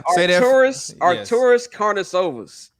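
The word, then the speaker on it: Artūras Karnišovas: Shout out you for learning how to pronounce that man's name correctly, because can you say that again for us right now? Arturas Karnisovas.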